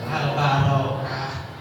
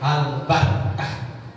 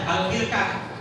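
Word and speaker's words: البركة: Barokah Makanya sini masjid albarokah bacanya kalau panjangkan kalau berustaz albarokah jadi banyak berkahnya kalau mau pendek albarkah tapi jangan dibaca albirkah kalau birkah itu kolam kecil ya kalau albarkah keberkahan kalau albarokah banyak barokahnya gitu kalau barokatun Barokah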